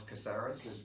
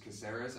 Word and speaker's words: Caceres: Alex Caceres. Caceres.